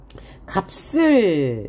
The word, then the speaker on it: 값을: 값을. 왜 이렇게 발음합니까? 뒤에 모음으로 시작하는 형식 형태소가 오고 앞에 겹자음이 왔어요. 그래서 뒤에 있는 자음을 연음했는데 예사소리가 연달아 나왔으므로 뒤에 있는 자음을 된소리 내기 적용한 거죠.